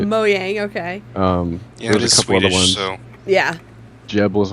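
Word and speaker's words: Mojang: like for one and it's moang so that's right moang okay um yeah Jeb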